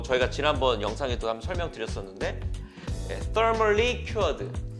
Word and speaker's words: Thermal: 뭐 저희가 지난번 영상에도 한번 설명드렸었는데 Thermally Cured. Thermal. 번데기 발음입니다.